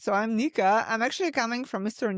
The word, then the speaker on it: Nika: So, um, Aaron pronounced my name, uh, correct. So, I'm Nika.